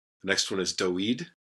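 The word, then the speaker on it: דוד: So we pronounce it Abraham. The next one is Aharon. Aharon, Aaron. The next one is Doed, David.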